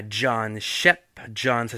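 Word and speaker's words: Schepp: D'ailleurs, je veux faire un petit clin d'œil à John Shep. John, ça s'écrit comme John. Shep, ça s'écrit S-C-H-E-P-P.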